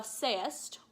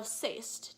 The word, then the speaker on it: sayest: You might say thou sayest or thou sayst, depending on what's going to fit the meter better.